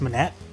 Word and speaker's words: Monet: That's pronounced Monet.